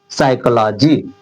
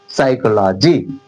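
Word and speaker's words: psychology: इसमें देखिए पी इसमें साइलेंट हो जा रहा है, कहां से शुरू हो रहा है? सा से, एस से, सा, साइकोलॉजी, साइकोलॉजी।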